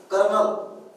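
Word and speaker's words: colonel: तसाच दुसरा एक आहे कर्नल कर्नल कर्नल र म्हणतो आपण त्याच्यात आर कुठेच नाहीये काही गमतीशी असे उच्चार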